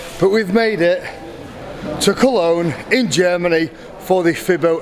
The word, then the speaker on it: Cologne: I keep saying Kern, but it's actually Cologne.